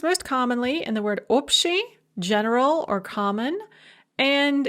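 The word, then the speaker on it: общий: commonly in the word opti general or common and its various derivatives such as abshizitia so that ba before the sha in opti or abshishitsya is pronounced more like a pair and there's your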